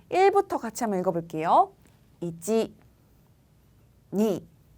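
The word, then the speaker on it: に: 니, 니.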